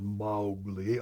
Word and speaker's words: Mowgli: Jungle Book I said how do you pronounce mo w GLI she said Molly I hate Walter Disney